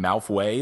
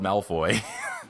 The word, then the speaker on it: Malfoy: they're also fun fact I've been pronouncing Malfoy in mouth way the whole time I thought that's what it was I don't know why and then I was like wait it's spelled Malfoy yeah I thought it